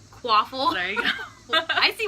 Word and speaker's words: Quaffle: Rhymes with waffle. Quaffle.